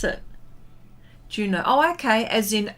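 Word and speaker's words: Juneau: And, oh, is it Juno? Okay. Juno. Oh, is that how you pronounce it? Juno.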